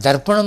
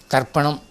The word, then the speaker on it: தற்பணம்: சொல்லை இன்று பலரும் பயன்படுத்துகிறார்கள் சிலர் தர்ப்பணம் என்று சொல்கிறார்கள் மூன்றாவது தானா போட்டு அது தவறு முதல் தா டிச் ஏ தற்பணம் அதான் சரியான உச்சரிப்பு தற்பணம் என்ற சொல்லுக்கு சமஸ்கிருதத்திலே